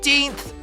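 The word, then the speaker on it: eighteen: Na primeira parte, as letras G e H não são pronunciadas. Então, quem sabe dizer como ela soa? Ela soa como ei. Muito bem. E quem lembra o som da segunda parte? O som é tin, como na palavra tinta.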